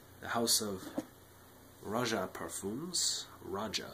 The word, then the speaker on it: Roja: house of raja parfums raja i think that's how he pronounces it um two more of